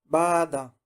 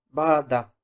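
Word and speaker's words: 바다: La segunda, Bada. Bada. Bada significa el mar. Estamos viendo palabras bisílabas.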